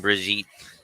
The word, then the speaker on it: Brigitte: Thank you, Angel, and you're welcome, Brigitte. Everybody you got to say her name correctly. It's Brigitte. It's not Brigitte. It's Brigitte. She got the extra I in there.